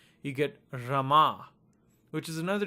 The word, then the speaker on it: Rama: So you get R long A M A. You pronounce that as Rama.